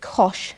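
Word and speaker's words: cosh: first we write hyperbolic cosine like this we pronounce it Kosh X and it's defined using the exponential functions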